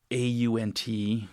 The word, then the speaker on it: aunt: Um so you'll have for instance the au n t can be pronounced ant or aunt uh or aunt or aunt depending on the dialect.